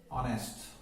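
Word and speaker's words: honest: Sound देते हैं, जैसे ऑनेस्ट, आवर, ऑनरेबल, है। एच का जो उच्चारण है यहां पे हा न होकर के क्या है, आ है, तो इनसे पहले भी क्या करेंगे, एन का प्रयोग करें, ठीक है जी।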